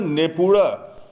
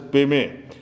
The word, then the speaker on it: Nepura: Now this Jambu should be somewhere near Nepura, where which Tibetans mispronounce as Peme, and where Niguma is supposed to have been born.